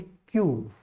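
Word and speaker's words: queue: इसके बाद यूनाइट, इसके बाद क्यूव, इसको QUEVE, इसको क्वीव नहीं बोल के आप क्या बोलोगे, क्यूव।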